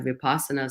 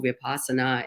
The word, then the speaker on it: Vipassana: Like, it could be as simple as, I was in a Vipassana center, and for those who don't know, Vipassana is, or Vipassana, like people pronounce it differently.